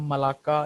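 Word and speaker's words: Malacca: है, या state of मलक्का कहाँ पे है, मलाक्का या मलक्का भी इसको बोलते हैं, तो प्रोनाउंसिएशन आपने देख लेनी है, वैसे मलाक्का ही बोलते हैं।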